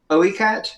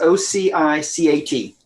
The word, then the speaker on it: Ocicat: It's called, I'm going to pronounce it Oicat, but it's Ocicat.